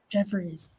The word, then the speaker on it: Jeffres: It's butchered all the time. People add I's, Y's. They add all sorts of things to it. Well, Yes. I mean, if I read it like I see it, it's Jeffres.